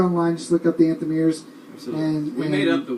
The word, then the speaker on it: Anthemeers: Anthemeers. Anthem, and then ERS. EERS. Not like the ears on your head.